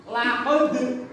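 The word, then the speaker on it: لقد: Ya, mantul ya mantul ini bacanya. Perhatikan, dengerin Pak Hasan. Laqad.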